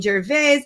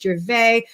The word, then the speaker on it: Gervais: I was saying Gervais. I should have known. I studied French. Like, I should have known it's Gervais, which is lovely.